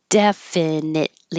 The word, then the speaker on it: definitely: turned the corner definitely definitely you won't hear that T at all because your tongue's going to the T position definitely so just hold it there young this is